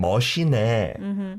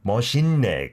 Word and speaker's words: 멋있네: See, that has been the way many people have said it. 참 멋이네. 멋있네, because of the 시옷 받침, right?